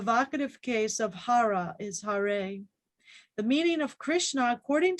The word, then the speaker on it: Hare: hence he is called hari which in the vocative case is pronounced hare or again according to